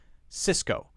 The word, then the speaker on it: Cisco: first C is pronounced sis sis the cysts are exactly the same even though one is a C and one is an S Cisco Cisco Cisco next one